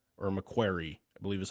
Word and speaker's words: McQuarrie: Christopher McQuire or McQuarrie, I believe is how you say his name. yeah, Christopher McQuarrie. Yeah. McQuarrie.